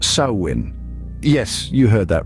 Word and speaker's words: Samhain: of this term saman contrary to what your instinct might tell you is pronounced sawin Yes you heard that right sawin the word hails from